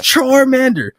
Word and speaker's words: Charmander: It's Charmander.